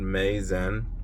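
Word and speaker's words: Meizhen: This spot is called Meizen, and I feel like they tried to make it sound like amazing, but it's spelled MEI space ZHEN.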